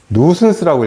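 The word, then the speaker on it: nuisance: 누슨스라고 읽어요. 누슨스. 이거 C입니다.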